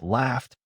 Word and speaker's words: laughed: The last sound in laugh is F, so it is voiceless. That means laughed takes a T sound, not a new syllable. I hear laughed, not laughed. The rule predicts the answer before I memorize it.